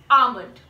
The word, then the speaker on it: almond: call it almond so the El is supposed to be silent you're in this one and we're going to pronounce it as almond right okay now we